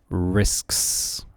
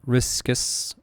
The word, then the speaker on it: risks: Remember to inunciate the S and S after each other. Risks. Risks. Risks. This can be very hard for many students to pronounce. So let's focus on it one more time. Risks. Risks. Not riskus but risks.